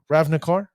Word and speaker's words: Ravnica: the day from ib i believe uh uh ravnicar uh ravnic yeah remnant car no yeah ravnica